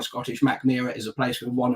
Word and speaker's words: Mackmyra: lived so um yeah so mcmahon or mac murrah which is probably closer to how a swedish person would pronounce it um yeah very much